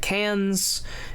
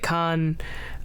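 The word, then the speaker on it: Cannes: it was a big hit at Cans. It uh God, I'm sure someone's going to beat me up for pronouncing it that way. Con um it was a big hit at Khan.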